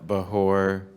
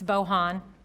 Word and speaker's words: Bohan: two minutes okay thanks it's bohan don't call me forgive